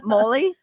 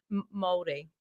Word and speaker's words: Māori: Molly? Māori.